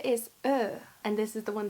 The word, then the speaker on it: Ø: Ö is pronounced like a mix of the letters O and E, which in Norwegian are pronounced O and E.